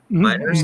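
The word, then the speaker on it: Meinerz: Miners.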